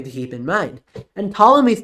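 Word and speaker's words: Ptolemy: keep in mind and tmy Theorem yeah I know it's a little funny pronunciation I used to keep saying pomies in my other videos so yeah there's a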